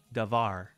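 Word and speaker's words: דבר: with davar for example the uh tonic uh syllable in the singular is var davar okay that's where the accent is it's last when you make it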